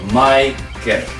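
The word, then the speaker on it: マイケル: in Japanese is this how we pronounce Michael in Japanese is my kit right so Michael and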